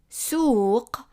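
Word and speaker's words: سوق: meaning he, and then suq, this is a small s, so it's a sin, suq, and this is a qaf. Remember, it's like a q, but pronounced in the back of the throat.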